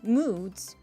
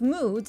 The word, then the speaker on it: moods: Instead of pronouncing moods, you pronounce moods as moods. I didn't. When an S follows a voiced sound like D, it should also be voiced as Z.